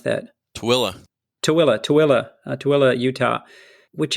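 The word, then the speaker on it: Tooele: went off to the Utah how do you pronounce that toilla toilla toilla toilla Utah which is not exactly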